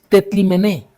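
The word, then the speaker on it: τεθλιμμένη: Este es un término griego que se pronuncia algo así como tetlimené.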